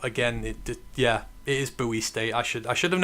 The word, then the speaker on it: Bowie State: As always, Lisa has let me know that it is pronounced Buoy, not Bowie State. You're right. I should have known that. But again, it Yeah, it is buoy state.